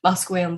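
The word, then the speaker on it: Musqueam: Um, just wanted to share that it's Buswam, Squamish, and Slate with Tooth.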